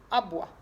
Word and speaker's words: aboie: Un chien aboie. Si j'écris un chien aboie, aboie, ça s'écrit comme ça. A, B et oie, bois, le E qui est muet.